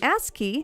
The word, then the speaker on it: ASCII: online with a broadband connection the japanese company ascii see i pronounced it correctly this time guys even created